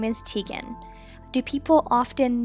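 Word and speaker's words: Teagan: I get Tegan a lot most of the time, which is kind of funny because it's spelled T-E-A, like a cup of tea.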